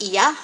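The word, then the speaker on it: Oia: We pronounce it Oya, but it's supposed to be pronounced Iya, and that is in Santorini.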